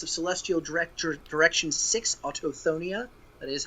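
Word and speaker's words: Autochthonia: of jade, compass of celestial, direct direction six, autoonia, that is how you pronounce it.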